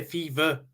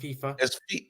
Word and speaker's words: FIFA: pronounce the word people you say fever rather than FIFA a fever yeah with a V rather than F so they're mocking you